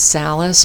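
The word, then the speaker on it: Salice: It's spelled S-A-L-I-C-E, which I pronounce Salis, but I do not think that is the proper pronunciation, which is why I'm spelling it out.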